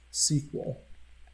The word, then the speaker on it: SQL: is a simplified version of SQL or it's pronounced sequel is one of the most common database languages so sequel you can create table you can create an